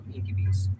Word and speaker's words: Enkibee's: Enki Bee, or like B as in this B that stings, apostrophe S, so Enkibees. Enkibee apostrophe S, so it'd be Enkibees.